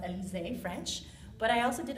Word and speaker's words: Elizee: e l i z double e and it's pronounced elizae french but i also did a play on